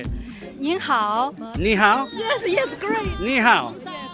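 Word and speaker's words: 你好: Ni hao?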